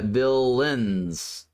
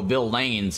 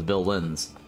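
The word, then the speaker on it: villeins: a second Lords and V villains some people pronounce it vaines yeah see it's um Bill uh Bill Lins so if you if you look it up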